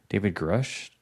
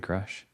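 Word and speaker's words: Grusch: David Grush, I think is how you say his last name, David Grush.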